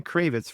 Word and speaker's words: Cravets: It's Mary Cravitz for all you people out there who don't pronounce her name correctly, and my name is